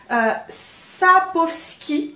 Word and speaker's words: Sapkowski: Attention à la prononciation, je crois que je ne vais pas me tromper. Sapkowski.